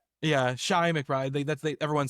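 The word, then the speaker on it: Chi McBride: His name is pronounced Shai. I always said Ch McBride. I always called him Chai. Yeah. Yeah. Shai McBride.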